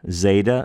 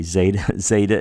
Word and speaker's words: zeta: Zeta, Z. Z. Pardon me, Zeta is Z.